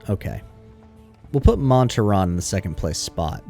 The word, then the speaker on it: Montaron: on how do you say how's his name pronounce montaron okay we'll put monterron in the second place spot because then if